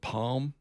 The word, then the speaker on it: palm: Yeah, people say the same thing of palm, palm tree. But I I've always said palm tree. I've always put the L in there. The L is kind of just You kind of Palm tree. It's silent.